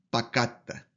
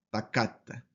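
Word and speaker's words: פָּקַדְתָּ: Por eso, esta palabra nos va a decir con el acento en la segunda radical, ahí debe ir la sílaba tónica o el acento, y nos va a decir entonces que se pronuncia pacatta, pacatta.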